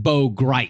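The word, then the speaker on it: Bo Gritz: Bo Grits is an interesting character, but it's pronounced Bo Grite.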